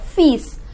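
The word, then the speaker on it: fils: son look peace look fees please take care that L is silent okay the next s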